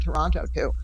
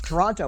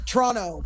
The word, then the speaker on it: Toronto: a Beatles tour of Toronto which was pretty awesome at see that's how I know you're not from Toronto because you're pronouncing the last T yes I know it's wrong Toronto Toronto yeah it's like Toronto